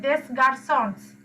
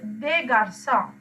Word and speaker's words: des garçons: to make it plural, you don't pronounce it. Normally s's at the end of the words we don't pronounce. So it is not des garçons. No, if you pronounce like that, it's completely wrong. That is des garçons.